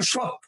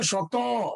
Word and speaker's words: শত: শত ওখানে কিন্তু উচ্চারণে আপনি লাস্টে অ না থাকলেও উচ্চারণ করছেন আপনি কিন্তু বলেন না সৎ আপনি বলেন শত লাস্টে একটা অ আছে কনসারটা কি ক্লিয়ার?